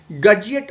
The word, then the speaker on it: Gutzeit: इस ऑपरेटर्स को, जो एक इस तरीके का ऑपरेटर्स होता है, इसे हम लोग कहते हैं गर्जिएट ऑपरेटर्स और इसीलिए लिमिट टेस्ट ऑफ आर्सेनिक को हम गर्जिएट टेस्ट के नाम से भी जानते हैं।